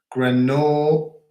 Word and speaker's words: Grenoble: So Pam's from Grenoble. You probably don't pronounce the D.